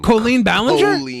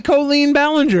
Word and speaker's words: Colleen Ballinger: filmed I hate how you say her name Colleen Ballinger that's her name it's not Coley yeah it is it's her name Colleen colorectal yeah it's literally Colleen Ballinger that's her name that's how it's pronounced okay